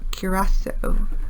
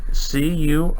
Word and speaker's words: Curaçao: How do you pronounce it? We were in Curaçao. Curaçao.